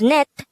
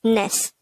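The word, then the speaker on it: 넷: by the siath character since seyot is on the third position it will have the t sound so this will be pronounced as net instead of ness next the native korean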